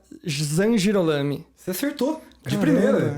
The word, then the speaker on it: Zangirolami: Gostaria de apresentar nosso ilustríssimo convidado, me corrija na pronúncia, Zangirolami. Você acertou. De primeira. Zangirolami.